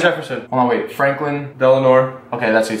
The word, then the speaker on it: Delano: Was it Thomas Jefferson, Benjamin Franklin, George Washington, or Franklin Delano Roosevelt? I think I mispronounced that middle name. It's Delano.